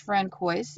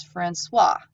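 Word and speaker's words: François: paper real quick it's the this is not pronounced friend quois it's Francois I've heard the Francois vase and so for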